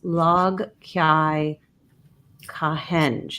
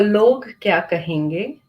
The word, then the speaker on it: Log Kya Kahenge: And the term is log kai kahenge. Am I saying it correctly? No, so it's log. It's log. You did try. You tried. That's right. So log kya kahenge, and Thank you.